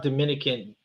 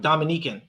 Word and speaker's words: Dominica: next one the minute not Dominican Dominican no not Dominican Dominica I you know